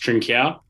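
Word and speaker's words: Trincão: So Trincao, I believe it's pronounced Trincao. Yes, Trincao to from Wolves.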